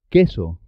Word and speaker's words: queso: Y la U no suena en este caso. Que, qui, queso.